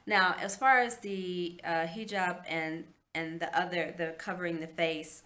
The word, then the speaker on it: hijab: I always want to say hijab, hijab, which is, it's like the reverse because it's spelled Hijab, and their I's are pronounced like E's, and their A's are pronounced like Ah. It has an Ah sound, so it's hijab, hijab.